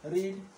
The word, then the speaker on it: read: जैसे मान लीजिए यहाँ पर हमने READ रीड पढ़ा, फर्स्ट फॉर्म में हमने रीड पढ़ा, सेकंड फॉर्म में हम उसको पढ़ेंगे रेड।